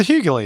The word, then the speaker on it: Hughley: Hughley. Is it Hughley? Hughley. How do you say it? I don't know. It's not up to me. Grant, how do you say it? Do you know? The Hughley.